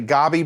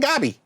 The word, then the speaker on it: Gabi: roasted a little bit for pronouncing it gobby but they just said it and that's how they say it is gabi so i'm saying it